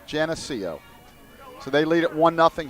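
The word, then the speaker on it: Geneseo: I've been told by some SUNY people that it's pronounced Genseo. So I think we're on track there. I apologize for any of the SUNY people out there, but it's Genseo.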